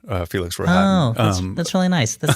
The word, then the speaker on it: Rohatyn: In the movie, they say it a couple of different ways, but I sort of make it rhyme with Manhattan, Felix Rohatyn.